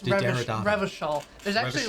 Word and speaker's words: Revachol: It enables you to make fresh associations, to delve into world concepts from Jan Karp's postmodernist carpery to Revelkol's arabesque architectural style de Derrida. It's Revachol.